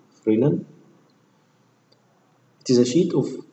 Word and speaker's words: Fresnel: S is silent here, Fresnel.